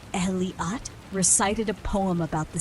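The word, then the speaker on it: Elliott: From a nearby tent, Elliot, pronounced Eliat, recited a poem about the seas mysteries, while Harvey quietly admired the sunset content.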